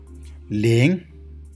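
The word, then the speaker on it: 零: Ling, ling, ling. There is a second tone. That means we need to speak like this. Ling, ling means 0.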